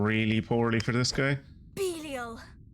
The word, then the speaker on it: Belial: I've been calling you Belial, and I will not stop calling you Belial, because that's how that name is pronounced.